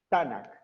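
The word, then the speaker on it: תנך: No hay vocales, pero se pronuncia Tanakh, ¿verdad?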